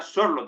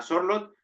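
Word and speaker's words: Sørloth: me parecería más adecuado es una delantera Julián schlot que por cierto se pronuncia sorot el otro día lo pronunció Alexander schlot así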